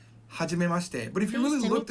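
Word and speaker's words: はじめまして: is going to be hajime mashite. Hajime mashite. Now that she near the end is not pronounced fully. It's kind of compressed up against the te sound. So it's not hajime mashite.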